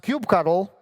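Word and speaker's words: kubectl: paying for coffee instead learn how to pronounce cube cuddle which is the control command of kubernetes and start saving money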